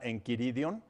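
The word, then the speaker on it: Enchiridion: importante que se llama en kiridium es en chiridium se escribe pero este documento tiene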